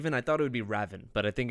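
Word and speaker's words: Ravn: name is pronounced raven just straight up raven i thought it would be raven but i think it's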